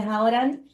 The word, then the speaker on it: Hauran: Welcome to this session with Hauran. It's how I pronounce your name.